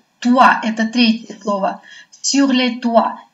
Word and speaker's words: toits: «Sur les toits». Видите, «ои» у нас с вами произносится как «уа».